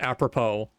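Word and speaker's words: apropos: So the the Google says the Google tells me it is pronounced apppropo.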